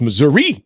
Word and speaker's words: Missouri: I ever went to only people in southern Missouri call it Missoura right like nobody in